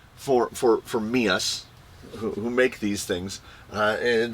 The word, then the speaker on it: meus: Back then, MEUS meant mine, and it was not pronounced MEUS. It was pronounced MEUS. Like M-U-S-E. MEUS and MUSE are pronounced the same.